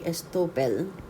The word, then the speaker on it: estoppel: in under article 1825 or a partnership by estoppel is actually how we pronounce it it is where a person acts